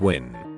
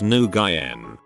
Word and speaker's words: Nguyen: It is pronounced Nguyen, not Nguyen. Nguyen, Nguyen. It is Vietnamese and the alphabet is Roman alphabet, so we don't